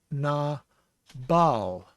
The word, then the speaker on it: Nabal: This is na, and we have the B sound because of the dagesh inside the bait. So it's na bal.